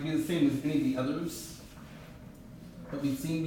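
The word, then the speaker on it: syn: close with respect to each other is called sin okay it's not spelled the same way to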